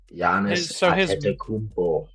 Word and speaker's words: Giannis: is it how do you how do you pronounce it again Yannis jannis okay jannis so his brother is on the team too